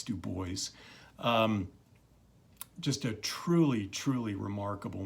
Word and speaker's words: Du Bois: boys as I'm sure you've noticed and it's Du Bois not Du Bois so anyway that's how he pronounced it so it's Du Bois just a truly truly remarkable man anyway so